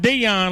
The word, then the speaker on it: Dion: his first name wrong he says like Dion like Dion Sanders so I'm going to